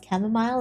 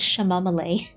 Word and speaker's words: chamomile: ages ago with the person pronounced camomile as shamal thank you I took